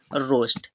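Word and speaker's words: roast: ठीक है नेक्स्ट है आर ओ ए एस टी इसका भी उच्चारण करेंगे इसका प्रोनाउंस क्या होगा आर से बनाते हैं रा ठीक है ओ से हम बनाते ओ ए हमारा यहां पर साइलेंट एस से स और टी से हम बनाते हैं ट तो इसका भी यहां पर जो प्रोनंसिएशन हो है होता है वो क्या होगा इसे हम क्या पढ़ेंगे रोस्ट क्या पढ़ेंगे रोस्ट तो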